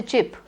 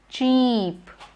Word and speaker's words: cheap: You don't say chip. It is cheap.